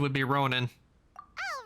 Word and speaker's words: ronin: To tell you the truth, the correct correct pronunciation would be Ronin, not Ronin. The correct pronunciation would be Ronin.